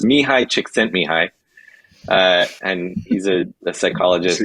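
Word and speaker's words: Mihaly Csikszentmihalyi: the guest on the show but uh it's pronounced mihai chick sent me hi uh and he's a psychologist polish psychologist um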